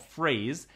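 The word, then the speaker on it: Frase: It's called Phrase. It just came out publicly. It's spelled F-R-A-S-E.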